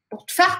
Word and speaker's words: pour te faire: Pour te faire comprendre. Perceba, mais uma vez, corta praticamente esse E aqui na pronúncia.